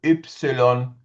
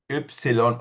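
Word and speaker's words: ipsilon: And Y is called Ypsilon. Ypsilon or Y.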